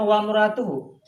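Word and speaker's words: وامرأته: Kan kalau kita bacanya wa muratuhu. Ya. Tapi setelah wawunya harus ada alif. Nah, ketahuilah kalau ada alif, tulisannya ada tapi nggak dibaca, itu namanya alif wasol.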